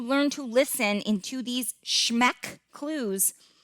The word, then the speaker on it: SHMEC: He came up with this acronym that he calls SHMEC, and it's spelled SHMEC.